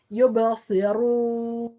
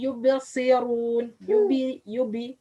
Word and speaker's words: يبصرون: Okay, the wrong or the common mistakes: don't make qalqala when you pronounce ba which have sukun. يب يبصرون. Ba which have sukun or has sukun should be made qalqala. يبصي يبصرون. But a lot of people or most people say يبصرون يبصرون, not make qalqala.